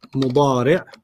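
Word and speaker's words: مضارع: And then the present is mudari'. Mudari'. Mudari'. You don't have to pronounce the tanween, just mudari'. Mudari'.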